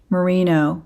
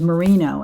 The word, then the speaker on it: Merino: is all wool very very beautiful 100 Superwash Merino by Lion Brand not sponsored that will be the third gift next week and the key word there is Merino and you have to spell it right it's